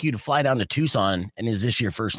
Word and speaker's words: Tucson: Canada right yeah nice is it Tucson or toxin it's Tucson because it's spelled toxin yeah the T the sea is